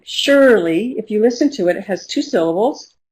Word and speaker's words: Shirley: My name, Shirley, if you listen to it, it has two syllables, Shirley, and the first syllable is stressed.